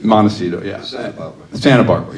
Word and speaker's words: Montecito: Well, now, you still live up in, am I going to mispronounce it, Mendocino? Montecito. Montecito, yeah.